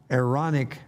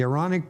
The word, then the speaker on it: Aaronic: that many of the aaronic priests and we were just discussing pronunciation so would that perhaps be ironic meaning a glottal stop between the two a's the aaronic priests and the levites